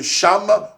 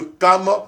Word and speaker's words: Cham: Sem, de Japheth et de Cham ou de Cam, selon la prononciation des uns et des autres.